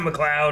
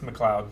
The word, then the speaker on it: MacLeod: McLeod. What? How is that McLeod? It's Scottish. Yeah. MacLeod. That's not McLeod, okay? McLeod. I've seen the word McLeod. cloud, okay? It's McLeod.